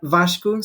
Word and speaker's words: Vasco: your name correctly yeah as I would say Vasco is how you say it it's outside the first name is quite vashku so Vasco is fine but it's more the last name that they go or and then that's the